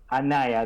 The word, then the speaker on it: Anaya: Is it Anaya? Is that Miss? Anaya, that's the right pronunciation.